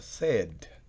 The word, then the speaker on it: said: Miren cómo se escribe, pero se pronuncia said.